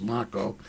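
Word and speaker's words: Macho: Moving on, though, we look at our next candidate, and we're going to be interviewing our next candidate, John Mako, M-A-C-H-O, it's pronounced Mako, and he is running as a Democrat in CD6 here.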